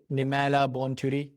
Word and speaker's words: Nemailla Bonturi: Today, I'm really excited to speak with Nimala Bonturi, the CEO and co-founder of IO. Am I pronouncing it right?